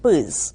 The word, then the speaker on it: PRRS: Sometimes we just pronounce the acronym PERS, right?